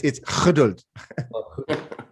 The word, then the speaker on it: geduld: It's the same as German. You just have to pronounce it funny. No, it's geduld.